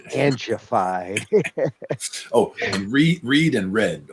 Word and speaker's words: Angified: And it's not Angified, it's Angified.